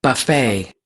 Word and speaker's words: buffet: the the USA buffet buffet so of course when you have French words you finish the word saying a is because the T doesn't sound at the end of course yeah that's